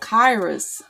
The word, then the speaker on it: Kairos: And then she was like, but it's pronounced like, okay, and then she spelled it out, okay, and I was like, oh, Kairos, okay, I know Kairos.